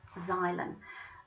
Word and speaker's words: xylem: minerals through our plants that's a xylem that's how you say it xylem Xylo means woody the